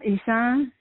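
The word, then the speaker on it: Ishawn: now what is your first name again um isaan how do you spell it uh i-s-h-a-w-n but um it's it's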